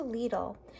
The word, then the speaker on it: Lidl: Okay, so anyway, I went to Lidl, and they say it rhymes with needle.